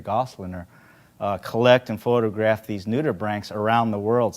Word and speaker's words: nudibranch: this sea slug on it known as a nudibranch. So, good pronunciation.